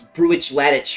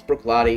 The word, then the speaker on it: Bruichladdich: The one thing that's where Bruichladdich, that's spelled Bruichladdich. My very first time, I was like, "What's Bruichladdich or whatever the hell I said?" No, it's Bruichladdich.